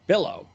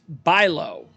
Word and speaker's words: Bilo: his last name so I was saying Billow but he said it's Buy Low um love the episode